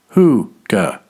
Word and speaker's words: hygge: Hygge, which is actually a word of Norwegian origin, is pronounced hoo-ga, and loosely translates to coziness.